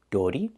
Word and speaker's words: dirty: dirty dirty We cannot pronounce the word dirty. It's dirty. We need this er sound in your voice, er, like burger.